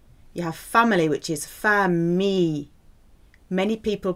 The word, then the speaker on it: famille: You have family, which is famille. Many people pronounce this incorrectly. So daughter is fille, family, famille. I double L is a E sound.